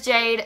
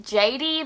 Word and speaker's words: Jade: me my name is Jade some people think it's pronounced JD because of the wah it's not but I understand where